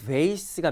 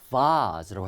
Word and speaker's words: vase: 자, 꽃병은 vase가 미국식 발음이고 영국식 발음은 vase라고 하거든요.